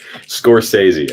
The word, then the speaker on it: Scorsese: function if that makes any sense squirt stacy scorsese that's how you say it i know i'm